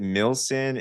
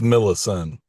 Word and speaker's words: Millison: Is it Milson? Is it Millison? It's Millison.